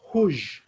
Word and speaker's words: rouge: We pronounce it rouge, rouge.